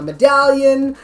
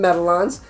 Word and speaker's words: medallion: So he called them medallons, which I'm like, no, dude, it's medallion.